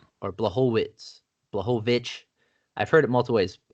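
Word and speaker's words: Błachowicz: So I used to say Blachowicz, but it's Blachowicz or Blachowicz. I've heard it multiple ways. It's Ovich? the ch is soft. Okay, It's just the h. Yeah, that's fine. Blachowicz.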